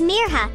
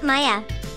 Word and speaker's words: Mirha: school the next day my name is mirha not Maya she told Hayden proudly